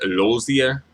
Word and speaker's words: Rosier: of the song so it's like rosier but they pronounce it Lucia um which I don't mind I kind of like the pronunciation um rosier there's a